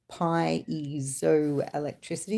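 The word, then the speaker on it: piezoelectricity: Crystals exhibit the properties of both piso electricity pronounced pio electricity.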